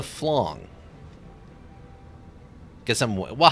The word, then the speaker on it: flan: Okay, so it's technically it's a flong.